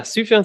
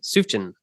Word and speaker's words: Sufjan: and I fun fact I pronounced his name for the longest time suin suin Stevens s s as a kid I thought that was right and I would even